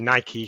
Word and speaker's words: Nike: There's a really good case study online about a Nike store. I say Nike (pronouncing long e). I know you say Nike, Tom, but we'll go with Nike.